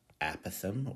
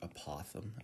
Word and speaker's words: apothem: A is apothem or apothem, as I pronounce it.